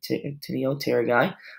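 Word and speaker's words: Actinopterygii: with a cartilaginous structure Antonia Terra guy so the P is silent antonio terry guy a red fin fish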